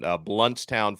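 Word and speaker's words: Blountstown: I think I brought him up one time and I mispronounced the name of his town. Bluntstown, Florida, I think is how you say that.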